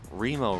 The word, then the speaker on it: Remo: named it after him Remo rhymes with Primo maybe they came up